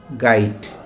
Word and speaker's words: গাইট: এটা কিন্তু ড না, এই যে ডটা না, এটা হচ্ছে কি ট। তাহলে এটা উচ্চারণ কি হলো? গা রসই ট, গাইড।